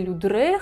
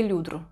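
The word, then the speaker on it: Ludres: Людовика XIV, короля Солнца, которую в русском языке называют мадмуазель де Людре, хотя на французском языке правильно говорить мадмуазель де Людру.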